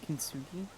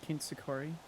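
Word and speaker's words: kintsugi: I think it's pronounced kinsuki or kinsukori.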